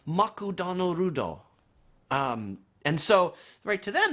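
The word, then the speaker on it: マクドナルド: and an example of that is McDonald's is pronounced makutano Rudo and so write to them that's an English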